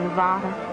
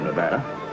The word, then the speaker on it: Nevada: Only the dreadful flat ah is correct. Among the natives, perhaps. I just thought you might like to know, in case you go to Nevada.